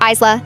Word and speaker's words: Ayla: My daughter's name is Ayla, spelled A Y L A, pronounced Isla.